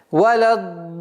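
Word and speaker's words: وَلَا الضَّالِّينَ: Это правило, которое гласит, если в одном слове после удлинительного звука встречается удвоенный знак, нужно в размере 6 огласовок обязательно удлинять. И она звучит таким образом. Валяддаллин. И в конце удлинения тильды нужен такой маленький тембр, чтобы слышащий знал, что после удлинительного звука существует удвоенный знак.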